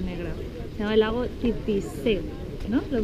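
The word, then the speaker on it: Titisee: Se llama el lago Titisé, ¿no? ¿Lo he pronunciado bien? Sí, Titisé.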